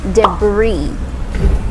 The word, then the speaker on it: debris: careful because there are falling debris debris yes not a breeze or not debris okay it's silent s so you don't say the s debris debris say it